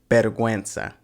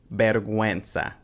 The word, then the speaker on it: vergüenza: And then there's the double dots over U, which tells you to pronounce it like ue. You'll see this occasionally in words like vergüenza. So it's got that ue sound, vergüenza.